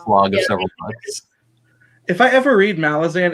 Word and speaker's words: Malazan: mel is analog 2022 isn't it actually pronounced malazin that sounds so bad it sounds like my dad trying to pronounce a fantasy word wrong melasma yeah i don't like there i say malazan even if it's wrong yep if you think of molasses yes leah leah please